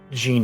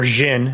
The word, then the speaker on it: Jhin: carries the relic that gene is in or jhin as he's actually pronounced uh he goes um